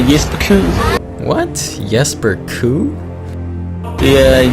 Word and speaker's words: Jesper Kyd: Now to me, that looks like Jesper Kyd. But that's not how you say it at all, apparently. This is him saying his name. Jesper Kyd.